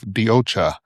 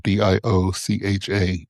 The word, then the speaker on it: DioCha: I am the founder and CEO of DioCha. That's spelled DIOCHA, DioCha.